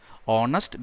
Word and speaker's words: honest: Honest begins with a consonant, but it doesn't have a consonant sound. It has got a vowel sound. Honest. H is silent. So we say Girish is an honest man.